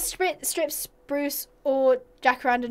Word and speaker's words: jacaranda: Okay, I'm seeing like lots of jacaranda. Is that how you say it? Jacaranda.